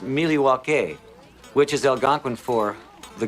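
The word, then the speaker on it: Milwaukee: Indian name yes Pete it is actually it's pronounced miliwaki which is Algonquin for the good land along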